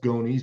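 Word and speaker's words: gonys: in from the tip and it's called a gones pronounced gones g n Ys or and that angle well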